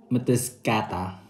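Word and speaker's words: Mtskheta: Tapos sinerge ko kung paano bigkasin yung location na kung nasa kami. So we're in Mataskata. Mataskata.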